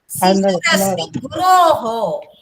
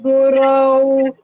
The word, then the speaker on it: குரௌ: குரவ் மதிரஸ்மி குரவ். Main வந்து உச்சரிப்பு. அந்த ரவ் எல்லாம் ரோ எல்லாம் சொல்லக்கூடாது. கரெக்டா ரவ்னு நன்னா சொல்லணும்.